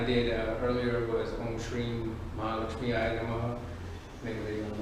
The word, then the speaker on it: Mahamrityunjaya: So, this mantra that I'm going to do right now is the key is in the pronunciation. The Mahamrityunjaya.